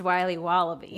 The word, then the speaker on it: Wiley Wallaby: Wiley's wallabies wallaby Wally's will be wobba beats pronounced Wiley wallaby well it's very good it's called Wiley wallaby